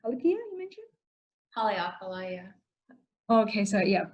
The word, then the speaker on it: Haleakala: That was Halipia you mentioned? Haleakala, yeah. Okay, so yeah, pronunciation.